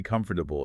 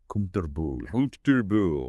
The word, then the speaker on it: comfortable: And comfortable isn't usually comfortable. It's more like comfortable.